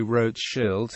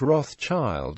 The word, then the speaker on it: Rothschild: The German family name Rothschild is pronounced approximately Rothschild in German, not Rothschild as it is in English.